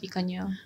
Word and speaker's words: Picanha: They say it's pronounced Picanha.